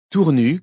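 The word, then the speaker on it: Tournus: Tournu, qu'il convient de prononcer sans son S final, est une jolie petite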